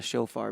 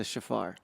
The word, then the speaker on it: shofar: me with pronunciations uh I've never heard anyone call it a shofar before that's uh it's a shafar so I know it